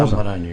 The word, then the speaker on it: Amrani: Bon, Amrani, oui, je prononce avec le R pour que ça fasse couleur locale.